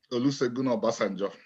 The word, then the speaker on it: Olusegun Obasanjo: wrong, so I'm going to ask you to pronounce the president's name because I'm sure you would say it better. Olusegun Obasanjo.